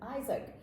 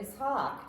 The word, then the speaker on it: Ishaq: So, and his progeny included 2 boys, Ishmael and Isaac, or Ishaq, depending on how you pronounce it.